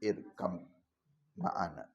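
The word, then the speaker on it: ارْكَبْ مَعَنَا: Nah irqab itu ada ba tapi ada mim tasdid. Jadi bacanya masuk irkam maana.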